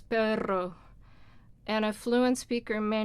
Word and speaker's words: perro: So let's say in Spanish it's the pero and perro. Those are 2 R sounds, but one sounds totally different from the other. And it's 2 different words, so it's either pero or it's perro.